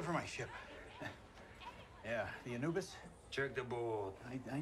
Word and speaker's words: Anubis: is an obvious anubis spelled a-n-u-b-i-s uh-huh it's pronounced anubis the crew of this